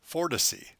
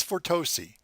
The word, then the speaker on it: Fortosi: welcome the Fortis e pronounced as for to see not as for Tosi we will be reviewing